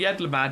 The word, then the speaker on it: Yedlamad: Please try peddling my fish to, shall we say, 3 people here in Yedlamad. Oh, that's how you say it, isn't it? I just said it randomly, Yedlamad.